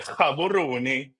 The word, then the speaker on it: Gaborone: Yeah, Gaborone.